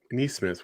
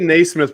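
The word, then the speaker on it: Nesmith: smith you got to say his name right denise smith whatever tomato kamado it's not nate is he related to smith i'm sorry yeah because i said naismith before and then i wanted to say knees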